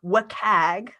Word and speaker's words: WCAG: to follow this is also called the wcag or whatcag it's a very goofy acronym to pronounce but that's how we say it um this is